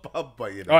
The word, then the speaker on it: Bumbu: Listen, I'm saying bumbu. How's it spelled? B-U-M-B-U. Bumbu. It's wrong.